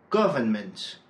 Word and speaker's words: government: « governing », « government », « accident », « accidental », « normal », « normally ». À chaque fois, l'accent est placé sur la première syllabe.